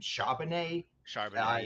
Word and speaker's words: Charbonnet: Charbonnet.